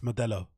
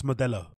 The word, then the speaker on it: Modelo: a Central American country you should be able to pronounce Modelo it shouldn't be too difficult to pronounce mabella if your spouse is